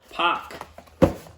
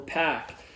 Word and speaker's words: PAC: but next up who do we have pock or pack it's weird like some people say pack some people say poc um i go back and forth with it uh i think that his pronunciation is packed but i know for years everybody called him poc before he was in